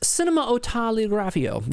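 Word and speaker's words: Cinématographe: Jay Donnelly says it's pronounced cinematografio.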